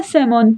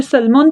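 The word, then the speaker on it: salmon: Then है सेमोन। यहां पर एल साइलेंट रहता है क्योंकि हम इसे सलमोन तो नहीं कहते। हम लोग इसे सेमोन कहते हैं।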